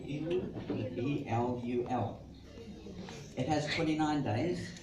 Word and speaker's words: Elul: And then in the last month of the Jewish year, I think it's called Elul. How do you say Elul?